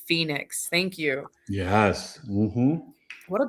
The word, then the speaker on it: Phoenix: My name is pronounced Phoenix."